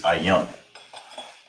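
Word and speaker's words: עין: Is ayan. That's how you say that, ayan.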